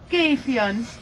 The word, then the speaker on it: Gefion: It's named after a goddess in the Nordic mythology, and her name was Gefion. It is spelled G-E-F-I-O-N. We pronounce the G in a different way.